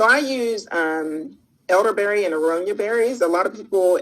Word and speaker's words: aronia: okay and how do you say it again aronia aronia yeah um a-r-o-n-i-a and it's a bigger berry